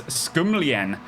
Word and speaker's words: Skumlien: Here comes Skumlien, which I believe is the correct pronunciation now.